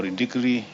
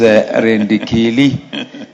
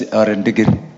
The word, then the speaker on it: Rendikili: I also request Honorable Indikri to second. Honorable Indikri. I think that's the English version of your name. The correct pronunciation is Rendikili, and traditional is Rendigiri.